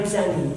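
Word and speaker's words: Zanni: And why Zanny?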